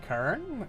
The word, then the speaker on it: Karn: It's pronounced Karn.